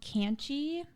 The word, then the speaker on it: Kannchy: I have another one on here called Kanchy, and it's spelled Kannchy, but they're a total